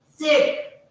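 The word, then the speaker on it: Zett: It is called sit, sit, sit, sit, sit, sit, sit, sit.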